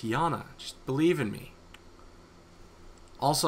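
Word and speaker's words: Janna: got that Jan Jana it's pronounced as a y Jana storm Mage never mind uh no dude it's Jana just believe in me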